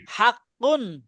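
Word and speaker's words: حَقٌّ: দুই পেশ কুন হাক্কুন হা কুন বললে হবে না কুন কুন বলতে হবে হাক্কুন হাকুন কুল্লুন কুল্লুন কুল্লুন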